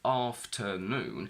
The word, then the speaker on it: afternoon: So, if we take afternoon, the primary stress falls onto noon, and if we go back 2, we get the secondary stress on R.